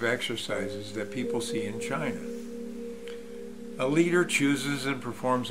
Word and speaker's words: Qi: fitness and health lifestyle Chi which is spelled Qi is the life force